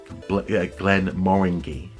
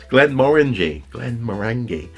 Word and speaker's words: Glenmorangie: It's been about 4 days because Will Wheaton slightly pissed me off when he pronounced Glenmorangie whiskey, Glenmorangie. What? It's Glenmorangie, and it's even worse because it's put in